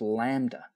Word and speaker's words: lambda: Well, that's well that's an upside down Y which is pronounced lambda.